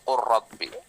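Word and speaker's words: قل رب: Tapi kalau ini tidak dibaca lamnya langsung qurrabbi.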